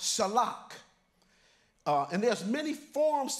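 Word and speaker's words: שָׁלַח: scent so in the Hebrew Hebrew word sentence pronounced shellac uh and there's many forms to this word sent or shalak but so sent means sin we all know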